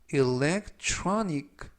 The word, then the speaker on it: electronic: 이때 중간 부분에 있는 tr 발음이 true, true, 그리고 강세는 알파벳 O의 강세가 있습니다. 그래서 electronic 라고 발음하시면 좋겠고요.